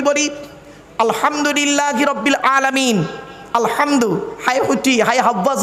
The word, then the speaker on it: আলহামদুলিল্লাহ: বেরচ্ছে দেখুন নামাজ পড়তে গিয়ে আমরা কি বলি আলহামদুলিল্লাহি রাব্বিল আলামিন আলহামদু হাটি হাবজ নয় আলহামদুলিল্লাহি রাব্বিল আলামিন আলহামদুলিল্লাহ গলার ভেতর থেকে হটা উচ্চারণ করবেন দয়া করে আলহামদুলিল্লাহ এর মানে হচ্ছে